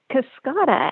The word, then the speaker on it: Cascada: Cascada, and it means waterfall.